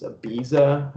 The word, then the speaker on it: Ibiza: I don't even know the right way to pronounce it. It's Ibiza.